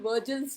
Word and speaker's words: Vogel: So then we have one method called Virgil's method. It is spelled as VOGEL, but we generally say Virgil's method.